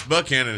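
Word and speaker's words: Buckhannon: bu Canon for example well it's buckhanon here because that's what everybody that lives there calls it exactly and um and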